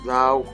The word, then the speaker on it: Laos: Oh, I actually want Laos. Lao, yeah, it's pronounced Lao.